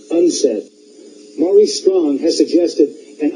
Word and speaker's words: UNCED: It is pronounced UNCED.